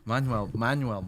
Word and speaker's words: Manjummel: Now I know how to pronounce it. Manjummel Boys. Yeah, like Manuel.